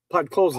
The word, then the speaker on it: Podkolzin: Pakolson? He gets his 13th from it. What? Say that again. Podkolzin.